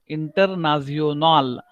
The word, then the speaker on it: international: Now it's actually international, but if you look at the pronunciation, or if you go through the alphabet, clear cut. So A is A only. So where A is there, you have to pronounce that A.